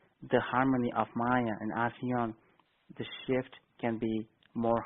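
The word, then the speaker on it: Alcyone: I know it's written with an L, but the way the sound comes from the other side, the L is not pronounced, so it's actually ASEAN.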